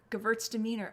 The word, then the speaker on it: Gewürztraminer: Reminds me of girls are meaner, Gewürztraminer.